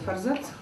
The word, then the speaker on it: форзац: Авторы у нас представлены на форзацах. Многие говорят форзацах. Правильное ударение форзацах, да? Так трудно произносится, но... Правильно, форзац.